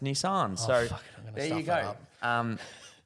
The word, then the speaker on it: Nissan: I did notice actually so I have been saying Nissan as my whole life as most probably Australians um or Americans I don't know but um obviously being in the film so prevalent they would obviously have to give the tick of approval yeah and for all you out there it is pronounced Nissan so there you go